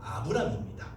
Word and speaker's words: 아브람: 이 새로운 첫 역사의 주인공이 바로 우리가 잘 아는, 흔히 여러분이 말하는 아브라함이라고 말하는 아브람입니다. 그러니까 발음에 제가 주의하는 이유는요, 원래 아브라함의 이름은 아브람이었습니다. 창세기 17장에서 하나님께서 선택을 하시면서 너의 이름이 아브람이 아니라 아브라함으로 고쳐줄게 라고 말씀을 하셨거든요.